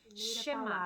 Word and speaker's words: Shema: rir em inglês e ela é pronunciada assim chama abra ouça o Israel